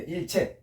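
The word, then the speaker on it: 일체: 그래서 일절 끊을 절로 발음될 때는 전혈한 뜻이고 부정어 수반. 이게 모두 채자로 발음될 때 일채 할 때는 모두란 뜻입니다.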